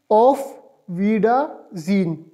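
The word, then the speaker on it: Auf Wiedersehen: Good bye का firstly spelling आप note करें, AUFWIEDERSEHEN, इसको प्रोनाउंस किस तरह करेंगे, ऑफ वीडा जीन, ऑफ वीडा जीन, देखिए जी, ऑफ वीडा जीन।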